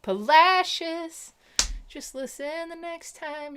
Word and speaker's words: Palacios: folks they don't know it looks like palacios sounds like polacious just listen the next